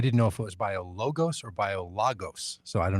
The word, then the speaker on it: BioLogos: give us a little more background on what biologos is and and why you're there and what